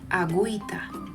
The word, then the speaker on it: agüita: But if you see this mark, diéresis, over the U, it means that U is no longer silent. We have to pronounce it. For example, agüita, cigüeña.